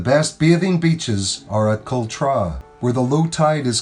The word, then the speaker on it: Cultra: Though most often pronounced as Cultra, the actual pronunciation of this residential seaside neighbourhood is Cultra, which literally translates from the original Irish as the back of the strand.